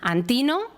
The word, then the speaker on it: Antínoo: esclavo entonces Este joven antíno Nosotros sí que ponemos el acento en la i porque en esa región se hablaba en griego todas las inscripciones que